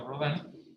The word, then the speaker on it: Rodin: O Rodin, que se escribe Rodin, se pronuncia Rodin, porque fundamentalmente él comienza a hacerse preguntas de la misma escultura como disciplina.